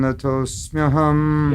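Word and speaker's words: नतोऽस्म्यहम्: Vriddhi Yoga Vibhavite Yogino Yam Prapasyanti Yogesham Tam Natosmyaham Wow, Natosmyaham.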